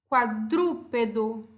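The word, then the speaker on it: cuadrúpedo: Qual é a sílaba tônica? Dru, certo? É minha última sílaba? Não. É minha penúltima sílaba? Não. É minha antepenúltima sílaba? Sim. Então, eu chamo essa palavra de esdrúxula, porque ela tem a antepenúltima sílaba tônica.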